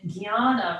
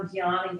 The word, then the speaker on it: Jnana: And Jnana, we know Jnana Yoga or Agya Chakra. That J and that weird little pinata N that makes the Gya sound.